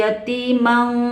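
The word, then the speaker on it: يَتِيمًا: Yatimang, dari mang ini masuk ke hidung, bukan yatiman ya, tapi yatimang.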